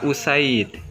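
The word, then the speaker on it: أُسَيْد: Yang pertama kita membacanya asid, yang kedua kita membacanya usaidun.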